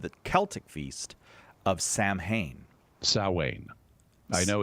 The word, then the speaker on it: Samhain: no internet and so they were mispronouncing it as Sam Hayne based on the way it's spelled ah like me uh